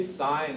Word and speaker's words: sign: that one down adus sign it's a sign why does it say sign and not Sig because the tree is